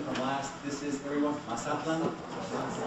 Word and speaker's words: Mazatlan: This is, everyone, Mazatlan. Mazatlan. Mazatlan is the Hispanicized pronunciation.